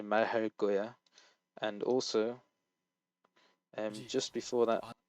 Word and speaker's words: 말할 거야: When the kiek is followed by a lir, it will become tensed. So 말할 거야, and also just before that, he.